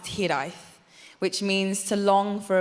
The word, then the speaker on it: hiraeth: There's a word in Welsh pronounced hiraeth, which means to long for a place that may have never been.